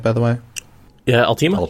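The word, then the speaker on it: Alteima: Am I pronouncing that right, by the way? Yeah, Altima? Altima.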